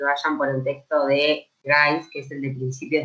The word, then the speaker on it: Grice: Profe, yo particularmente sobre ese tema no, pero me quedó, tengo un problema con las máximas de Gris. Bueno, ay, perdón, no sé si Sí, se pronuncia. Grice, Grice.